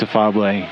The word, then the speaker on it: Afable: slaughtered every which way, so it's Afable, affable with one F if you want to spell it.